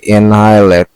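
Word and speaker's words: annihilate: ওকে, decimate মানে ধ্বংস করা অথবা ডিস্ট্রয়, ডেভাস্টেট, ওয়াইপ আউট, এনাইলেট, এইটার উচ্চারণ কিন্তু কি? এনাইলেট। ওকে, এনাইলেট।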